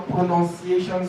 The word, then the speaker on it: pronunciation: want to see your pronunciation skills I actually said pronunciation not pronunciation there's a difference between pronunciation and pronunciation pronunciation does not have o after n and and